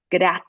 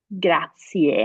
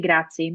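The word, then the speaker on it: grazie: the word is spelled forget that it ends with an i and e and just close your eyes and listen it's graier graier I know it feels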